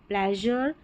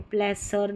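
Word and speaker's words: pleasure: प्लेजर, major और ट्रेजर, यहाँ पर प्लेसर नहीं पढ़ेंगे, ठीक है, ज़र करके आ रहा है SURE का उच्चारण इस पैटर्न का।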